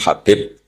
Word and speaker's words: Habib: yang nulis Abi Abdurrahman Habib asulami itu di harakatnya kitab itu ada yang nulis yang benar Oh enggih yang benar itu bacanya habib habib itu Sulami itu ikut